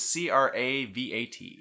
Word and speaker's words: cravat: up, how do you spell it? A lace? Cravat. Cravat is CRAVAT.